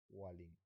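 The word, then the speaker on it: whaling: ওকে, ওয়ালিং বলা হয়, ওটাকে ওয়ালিং বলে বা ওয়ালিং বলে, এইচ এর উচ্চারণটা হয় না, ওয়ালিং।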